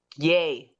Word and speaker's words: Ye: he changed the name to yi this week yay yeah yeah yeah that's how you pronounce it yes okay all right well well